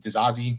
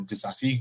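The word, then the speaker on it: Disasi: the game um Axel diazi or diasi however you want to pronounce it um did a nice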